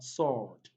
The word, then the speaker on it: sword: option c we have sword sword don't forget letter w and letter are silent they are not pronounced but the ohar here has long all oh sword any option d we